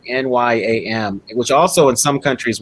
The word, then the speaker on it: nyam: pronounce it right, but one word for yam was like NYAM, which also in some countries was the verb to eat.